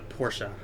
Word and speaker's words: Porsche: excuse me excuse me I got to say it right the Porsche as the ger as you would actually it's closer to German it's not actual but